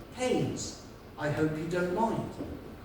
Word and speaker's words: Keynes: And then this woman stood up, she said, excuse me, young man, I know it's spelled Keynes, K-E-Y-N-E-S. But here in the village, we prefer to pronounce it Haynes.